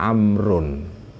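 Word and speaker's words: عمرو: ya ini hati-hati membacanya kalau kata Umar tidak ada wawu setelah kita bacanya Umar tapi kalau setelah kata Umar ada wau kita Bacanya adalah amrun jadi amrun ada Umar ya Nah cara penulisannya dalam bahasa Arab kalau kata amrun itu tidak Ain mim ro selesai enggak Ya setelah ro dikasih W jadi bacanya amrun tapi kalau Umar itu Ain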